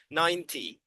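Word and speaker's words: ninety: Uh, Miss Sandy, this one is pronounced 90. 90. So, the T is short and there is no N sound.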